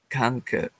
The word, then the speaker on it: Conquer: Remember, we don't want to say the Q-U. How do we pronounce it? I'm sorry. Conquer.